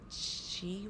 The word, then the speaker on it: qi: That there's 2, ma and chi, was that the one? Those are the only 2 syllables per se.